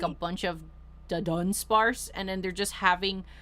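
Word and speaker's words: Dunsparce: feel like I'm like really emphasizing the dun part yeah it's dun sparse I wish I the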